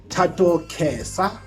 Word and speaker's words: Thato Khesa: Today it is Sunday, a blessed day, and I'm hanging with Thato Khesa. Is it the right pronunciation?